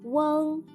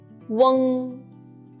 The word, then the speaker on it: ueng: Let's learn the final ueng together. When you pronounce the final ueng, make the u sound, then quickly slide to the ng. Ueng.